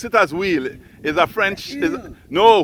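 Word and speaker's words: huile: spell pronounce it as wheel is a French no wheel is a French term eight h u i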